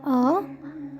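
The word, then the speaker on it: अ: এ ও আন আহা সবসময় মনে রাখবে বাংলায় যেরকম আমরা ও আ এইভাবে পড়ি প্রথমটাকে ও বলি সেভাবে হিন্দিতে প্রথমটাকে ও বলে না এখানে আ বলে মানে ছোট আ তারপর বড় আ এইভাবে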